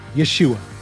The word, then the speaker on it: Yeshua: result is the same the messiah's name is pronounced Yeshua